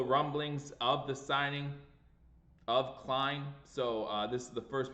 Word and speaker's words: Klein: Klein, it rhymes with shine, so Klein.